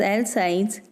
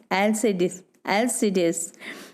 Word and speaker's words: Alcides: more love than young alcides some pronounce as l sides and some as lcd lcds actually it is another